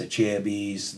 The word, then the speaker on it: Acerbis: They did a guy yawning, then they had a picture of a chair and a bunch of bees, because everybody's always said acerbis, a chair bees, this, that.